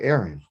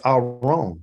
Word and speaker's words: aron: sounds like aaron doesn't it sounds like aaron okay but it's our own that's that's the name of the ark the ark is called aron a r o n